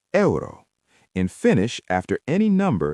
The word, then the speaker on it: euro: Euro is eero.